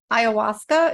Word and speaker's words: ayahuasca: So she did ayahuasca.